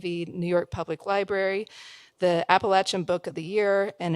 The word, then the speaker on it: Appalachia: farm in southern Appalachia which is the right way to say it by the way it's Appalachia and joining her tonight